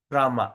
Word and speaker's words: Rama: So, there's always a silent I at the front. So, how are we going to pronounce this? Is like this, right? So, Rama. So, that means when you pronounce the word Rama, we pronounce I, but the I supposed to be silent. Irama. So, Rama. We don't call Irama, but you just try to say Irama. Say it quickly.